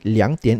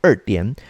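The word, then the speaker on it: 两点: sia okay so uh your answer should be liangtian instead of urdian although i would still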